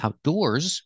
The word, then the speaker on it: outdoors: noun after it but if I say outdoors with the S and the stress on the second syllable it's the same as